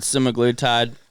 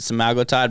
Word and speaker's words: semaglutide: Some people pronounce it semaglutide. I pronounce it semaglutide because I heard it pronounced that way on a Wegovy commercial. So it's got to be right.